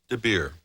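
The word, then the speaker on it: de Beer: The story I brought today is called The Little Polar Bear, written and illustrated by Hans Debeir. Rhymes with root beer.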